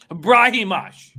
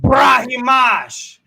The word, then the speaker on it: Brahimaj: Brahimaj. Brahimaj.